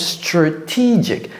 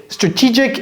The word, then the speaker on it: strategic: And he or she implements the strategic, ça se prononce strategic, ce n'est pas strategic initiatives.